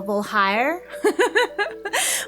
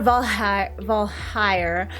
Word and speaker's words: Voulhire: I keep thinking it's hair, even though there's not an A there, so Voulhire.